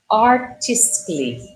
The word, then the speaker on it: artistically: As silent letters, como a gente tem lá, ó, a gente pode tentar pronunciá-las, por exemplo, artistically, logically, musically, romantically, stoically. Vocês percebem que o A não aparece?